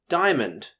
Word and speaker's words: diamond: to spell this word when we pronounce it normally though we don't even say the a in the prefix d i a m o n d spells diamond word number 10 is